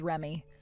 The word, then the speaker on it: Reme: She has it spelled as Reme, but you're supposed to pronounce it as Remy.